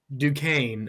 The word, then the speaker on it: Duquesne: We got BYU and Duquesne. All right. Yeah, that's how you say it.